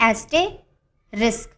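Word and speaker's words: asterisk: 11th word है एस्टे रिस्क। एस्टे रिस्क। इसकी pronunciation ये है।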